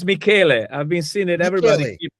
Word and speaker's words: Michele: Yeah, Yes, it's that's Michele. Michele. Thank you for providing that precision on your pronunciation.